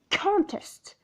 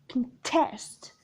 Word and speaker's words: contest: word of two syllables if you stress the first syllable then it is a noun by saying for example contest contest contest here means competition and it is noun but if you suggest the second syllable of the same word we say contest contest here it is a verb and means oppose hence the word stress